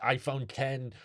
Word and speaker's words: iPhone X: glasses on Polar Express Apple actually pronounces it iPhone 10 uh there was a